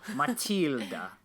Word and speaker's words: Matilda: name but uh it's okay how do you pronounce it properly matilda it's literally the same so matilda yeah okay matilda uh we're gonna okay we're